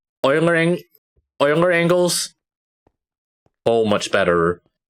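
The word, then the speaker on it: Euler: Then in theory that should uh that should actually uh this word I learned that is actually pronounced oiler not like it's something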